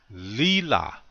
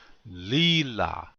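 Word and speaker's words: líla: this one a lot lila this means really or very notice the accent is on the first syllable lila repeat after me please lila one more time lila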